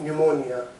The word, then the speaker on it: pneumonia: and is dying of pneumonia this was the spelling of pneumonia where P is silent and it has spent